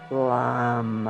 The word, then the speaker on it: Lam: tailbone area and um the one syllable Sanskrit Mantra Lam l m ready